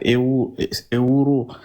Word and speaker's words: euro: Juste pour vous aider, hein, Euro, le E, tu remplaces par E accent aigu, le U, tu le prononces en son OU.